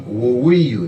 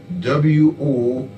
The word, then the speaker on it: Woweiyu: We also had Tom Woweiyu, that's spelled W-O-W-E-I-Y-U, Tom Woweiyu.